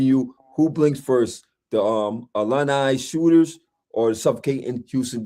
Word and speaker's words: Illini: Uh, It's not alumni.